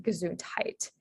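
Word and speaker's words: gesundheit: um so the h-e-i-t and then gazoon tight um so the e-i-t um there's also like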